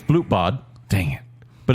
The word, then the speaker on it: Blutbad: It's Blutbad, Dang it.